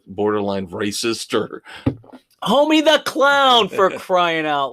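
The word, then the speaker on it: Homme: I think Josh now like now I always mispronounced his name. His name I guess is Josh Homie where I always said it was Josh H, but I guess it's homie.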